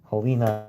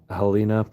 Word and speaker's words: Helena: Helena, Helina, I believe is how you pronounce it.